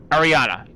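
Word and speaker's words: Arianna: Actually, I think I have it, so I can actually pronounce her name properly. Ariana.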